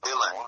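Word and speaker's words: uilleann: a lesson playing the ulian pipes or they're pronounced dylan but it's spelled so ui let me see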